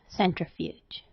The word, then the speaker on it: centrifuge: UGE at the end will usually keep a long U sound, like in this word, centrifuge. Here is a quick review of the spelling of just sound in shorter words.